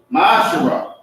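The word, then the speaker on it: מעשר: It means 10th in Hebrew. It is pronounced Ma'asherah.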